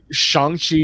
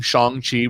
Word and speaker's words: Shang-Chi: Shang-Chi just came out. By the way, I keep saying Shang-Chi because I listened to somebody else's podcast and they said that's the way it's technically supposed to be pronounced.